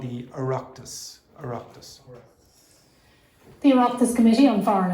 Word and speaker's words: Oireachtas: Oireachtas.